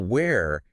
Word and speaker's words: where: While where has a more distinct uh dip thong, like a combination of two vowel sounds.